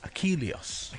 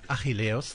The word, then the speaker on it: Achilleos: would have been okay if you said achilles that's pronunciation or that's english so so welcome to